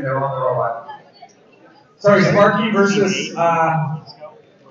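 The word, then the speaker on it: Sparqee: Sparky. Previously we had It's spelled S-P-A-R-Q-E-E. Oh, look, it's actually written there on the robot. Sorry, Sparky versus 4.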